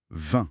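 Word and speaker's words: vingt: V-I-N-G-T. Mais on ne prononce ni le G ni le T. Ah oui, juste 20. Comme le vin qu'on boit. Exactement, le même son. 20. Court et nasal.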